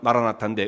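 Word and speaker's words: מָרַנָא תָא: 이 아람어로 아람어의 발음은 마라나타인데 의미를 번역하면 주께서 곧 임하신다라고 하는 뜻이에요.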